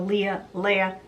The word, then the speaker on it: Leia: Now, if anyone understands the Leia debacle, you'll understand why my name is spelled L-E-I-A, but it's pronounced Leia.